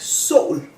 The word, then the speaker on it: sol: One type is what I call the true O. And is, for example, in the word sun, like sol. Sol. You can hear it also has the glottal stop.